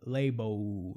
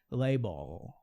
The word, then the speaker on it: label: Então o L, o som tem o som de L, não tem o som de U, label, não é esse som, label, little, ok?